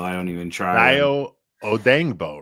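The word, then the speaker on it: Odeyingbo: Dio Odangbo, right? It's Odangbo.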